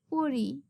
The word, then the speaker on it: পড়ি: আমি বই পড়ি. I wear Sari. আমি শাড়ি পরি. Here the Bengali spelling of the verbs is a little different, but the pronunciation is same.